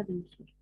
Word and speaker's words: peninsula: طيب بنسولة تمام، يبقى كده النطق الصح الحمد لله بنسولة.